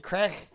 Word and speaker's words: craic: It's spelled CRAIC, Right. but you say it like the white powder, like CRACK.